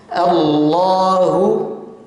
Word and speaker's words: Allah: mengenal lafaz bacaan Allah cara membacanya adalah 2 yang pertama adalah menebalkan bacaan Kapan dibaca tebal ketika lafadz Allah apabila diawali atau huruf sebelumnya adalah berharakat fathah atau dhomah maka ini wajib dibaca tafkhim atau tebal tebal Bagaimana bunyinya yang punya Allah ya contohnya di sini Allah u kemudian cara membaca